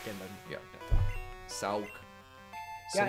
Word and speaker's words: Sawk: Hence the name, like, Sark and then... Yeah. Sauk. Yeah, Sawk. And it's spelled like hawk, but with an S.